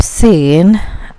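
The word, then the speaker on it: سین: We're gonna grab Seen and paste it here. So Seen is just like seen in English. Seen.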